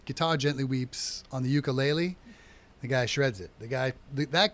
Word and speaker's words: ukulele: It's actually pronounced ukulele, and ukulele in Hawaiian means jumping flea.